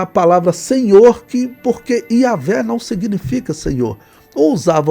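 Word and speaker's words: Yahweh: Yahé fazendo a pronúncia correta aqui que não seria Jeová.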